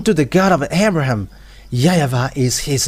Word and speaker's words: YAHVAH: So here it is really seen, the W is really V, but it's the Western who changed it into Wu.